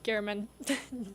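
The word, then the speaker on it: Geierman: gearman uh I believe I was told to pronounce his name like fireman okay so that if if you need to know your mayor dville fireman Gman gotcha mayor Gman 69%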